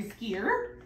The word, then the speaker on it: skewer: You're not gonna stir it with your skewer? No. Skewer. You put the emphasis on the wrong syllable.